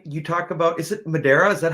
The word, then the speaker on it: Madeira: ukulele really quickly you talk about is it madera is that how you say it yeah madeira right um madeira you talk about a distinction